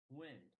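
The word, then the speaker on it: Nguyen: How do you pronounce your last name? Win. Like Win. It's a Wenwin. very common name.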